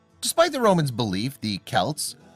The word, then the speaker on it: Celts: Despite the Romans' belief, the Celts, pronounced with a hard C or K sound, were anything but barbarians.